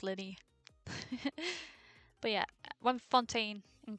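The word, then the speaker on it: Lyney: Oh yeah, it's pronounced Linny.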